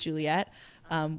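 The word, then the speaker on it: JULET: I think when I first started out as my old artist project name, which was JUL ET, pronounced Juliet, we all understand after that long explanation why I decided to change it to my legal name.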